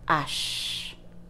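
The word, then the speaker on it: hache: will start with pronunciation the letter H in French is pronounced Ash the most important thing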